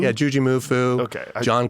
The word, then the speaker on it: JuJu Mufu: Is that how you say his name? Yeah, Juji. Juji. Yeah. Juji Mufu? Yeah, Juji Mufu.